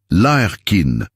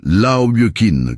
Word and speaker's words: Larkin: « Hé, Larkin, c'est ça ?» Il avait prononcé son nom correctement. Larkin, pas Laoyukin comme la plupart des gens.